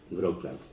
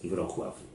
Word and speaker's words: Wrocław: Actualmente esa ciudad se llama Wrocław, o dicho mal pronunciado, Wrocław, pero no es Wrocław, es Wrocław.